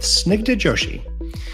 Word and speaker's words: Snigdha Joshi: Designing Tomorrow, where AI meets the human touch with Snigdha Joshi. Oh, you know what? I totally forgot to ask. Did I pronounce that right?